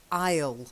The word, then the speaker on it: isle: Okay, and the other one is isle. It's a small island. So island is a silent S.